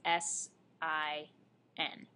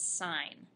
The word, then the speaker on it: sin: sign as a function it's written as s i n not pronounced sin pronounced sign so s of theta